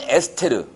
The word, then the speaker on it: 에스테르: 1류에서 6류까지 있는데 5류 위험물인데 보시면 질산 에스테르. 이거 이제 요새 이제 그 에스터라 그러는데 맨날식 발음은 에스테르입니다.